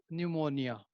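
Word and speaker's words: pneumonia: यदि P के बाद N है means a word is starting with P and just after that is N there, then it will be न्यूमोनिया। सो न्यूमोनिया की spelling P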